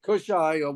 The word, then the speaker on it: Kushai: position uh I believe it's kushy is that the proper pronunciation Abraham kushai kushai kushai okay kushai what can you tell us